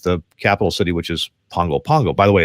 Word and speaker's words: Pago Pago: capital city which is Pongo Pongo by the way it's spelled Pago Pago but in Samoan it's pronounced Pongo Pongo so we've been there